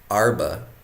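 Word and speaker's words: ארבע: to share those those arba is how you say for those different locations those four different locations you can check out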